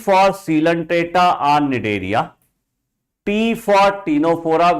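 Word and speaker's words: Ctenophora: cant AA on nidaria P for Tora where the C is silent PCT please P for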